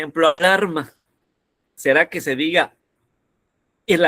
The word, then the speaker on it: alarma: Alarma, alarma o alarma.